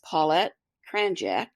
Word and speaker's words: Paulette Kranjac: a little bit today with me today is paet cranck did I pronounce that correctly yes okay well welcome and